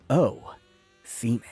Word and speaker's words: Osimhen: This man, Osimhen. Yes, it is pronounced O-Seaman.